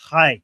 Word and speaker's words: Chai: Chai. So okay, it's not he, it's not he, it's something in between.